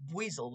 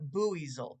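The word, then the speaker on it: Buizel: pronounced boozel it's pronounced Buel though not boozel because he's a buoy weasel I don't understand but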